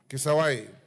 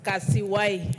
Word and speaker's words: Kasiwai: Sorry, Mami, your name is Kasiwai. Thank you, Honorable Speaker, and thank you for pronouncing my name correctly. It's Kasiwai. Kasiwai.